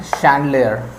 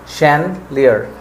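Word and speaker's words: chandelier: English में बोलते हैं शंड लेयर शंड लियर उसको हम spelling C एच ए एन जी ई एल आई ई आर यानी कि शन लियर तो वर्ड इ सेकंड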